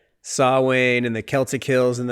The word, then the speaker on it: Samhain: That's cool that he pronounces Samhain correctly. Like in the second film, we see Sam Hain written.